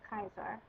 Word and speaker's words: Caesar: salus and of course caesar would be pronounced kaiser going back to that